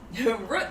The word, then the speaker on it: root: was warning me about i know we pronounce root like foot i don't know i